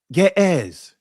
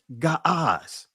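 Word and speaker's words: Ge'ez: GZ. Actually, it was is the proper pronunciation is Gaaz.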